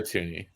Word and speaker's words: Thuney: Right guard, I want to go with another Chief, Joe Thuney or Thuney. I think I butchered his name. It's Joe Thuney.